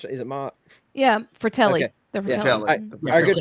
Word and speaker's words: Fratelli: How you pronounce it? Is it Ma? Yeah, Fratelli.